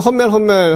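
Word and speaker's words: Hummel: 그래서 이제 푸마 아디다스가 이렇게 서로 나눠졌고, 근데 그거보다 먼저 사실은 이 훈멜, 지금 우리나라에서는 험멜 한데 독일어로 따지면 정확한 발음은 훈멜이죠.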